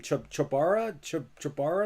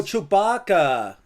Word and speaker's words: Chewbacca: Chubara? Is that right? Oh, you don't know Chewbacca from Star Wars? Oh, Chewbacca.